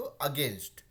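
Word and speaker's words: against: है ठीक है वैसे यहां पे ए जी है ना तो अगेंस्ट नहीं हो की अगेंस्ट होगा तो हमेशा प्रोनाउंस करें इसको अगेंस्ट जहां पर भी ए से शुरू हो रहा है ना उसको ए नहीं हो के वो ए हो जाता है ठीक है तो यहां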